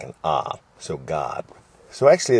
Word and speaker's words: Gad: say it in English k a a a Gad Gad but in Hebrew a is pronounced like an A so God so actually it's interesting because just made me